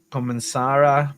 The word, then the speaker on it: comenzará: Esta evento comenzará pronto. Comenzará. We gotta put the emphasis on the last A.